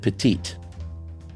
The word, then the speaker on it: petite: So if there's an E, that means the consonant in front of it isn't the last letter and is not silent. That's the difference between petit and petite.